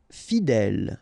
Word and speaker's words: fidèle: Fidèle. Final E, not pronounced, so accent grave here.